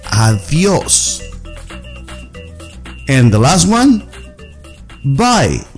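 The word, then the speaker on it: adiós: Don't say adios. Say adios.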